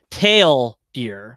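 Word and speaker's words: TL;DR: your T L semicolon dr but he he pronounces it tail deer like the color tailed deer as in right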